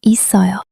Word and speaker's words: 있어요: It's written 있어요, but it's pronounced 있어요.